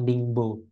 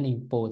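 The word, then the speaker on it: Ningbo: satu portnya kan namanya adalah ningpo ya atau dingbo ya biasa orang Indonesia bilang dingbo e cara bacanya ningpo teman-eman Oke sekarang kita geser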